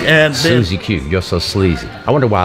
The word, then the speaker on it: Sleezy: to clarify one thing my name is spelled SL e e zy Zack why out here hey Zed you say is that I say Z sleazy and it's not easy